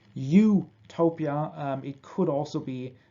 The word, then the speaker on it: Utopia: doesn't really exist but if we pronounce uh Utopia in English uh it sounds like you Topia um it could also